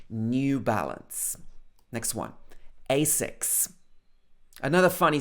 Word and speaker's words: New Balance: So notice that in the UK we say new. N-E-U. New. We don't say new. Not New Balance. That's more like the American English pronunciation. We would say New Balance.